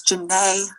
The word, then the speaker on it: Janae: First, I want to say it's Janae Lennox. Janae, It's not that my hard. apologies. Rhymes with Renee.